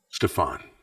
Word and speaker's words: Stefan: So am I pronouncing your name right, Stefan or Stefan? Stefan.